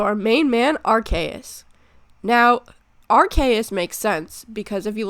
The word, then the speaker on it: Arceus: look at the word, the ARC part of the word comes from the English word archaic, which means old, and the AUS part comes from the word deus, which means God, in Latin.